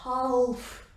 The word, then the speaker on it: half: So half, we don't say it like that. L is silent here, so half. And it should be hour, but it is not.